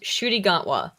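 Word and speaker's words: Ncuti Gatwa: His name is pronounced Shooty Gatwa.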